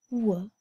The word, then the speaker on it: whale: picture of the whale whale remember boys and girls I said that E is a silent e it doesn't say anything and so the last